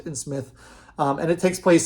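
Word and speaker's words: Psmith: called Mike and Smith the p is silent and Smith um and it takes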